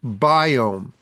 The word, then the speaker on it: Biome: down you want to go online to doctor's biome I'll repeat this later in the show but